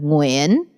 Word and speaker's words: Nguyễn: Well, there's only one Vietnamese way to pronounce it, but I hear different ways that people pronounce it. There's Nagayan, Nguyen, Nguyen. Nguyen. Nguyen. Not yet. Sorry. But yes, I would say Nguyen is the most like